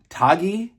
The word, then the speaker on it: Tagge: In the movie, it's spelled Taggi, so I assumed it was Tagge or Taji. And then I hear that it's pronounced Tag.